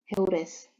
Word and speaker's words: heures: Tadi cara baca yang ada S-nya gimana ya? Heures.